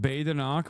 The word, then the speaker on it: Badenoch: It's pronounced Badenoch, but I don't care.